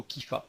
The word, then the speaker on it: Kipha: Mais Shimon est devenu Képhas. Ou plutôt Kipha, si on veut prononcer vraiment comme c'est écrit.